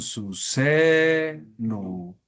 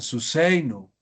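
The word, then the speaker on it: סוּסֵינוּ: Alargamos la pronunciación. Su seno. Hoy dirían su seino. Nosotros decimos su seno.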